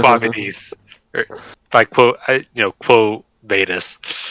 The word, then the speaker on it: Quo Vadis: Vadis, or by quote, Quo Vadis. Because this is fucking Latin, not fucking French, Austin. I'm not pronouncing it French.